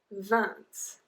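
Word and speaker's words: vingt: diner then we have 20 Vance Vance once again we do not pronounce the G but we do penology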